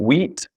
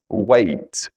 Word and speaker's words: weight: So E and I make an A sound. So E, I make an A sound. E, I make an A sound. So it's not that common, but it can trick you sometimes. So for example here, it's not rain, it's rain. It's not wheat, it's weight.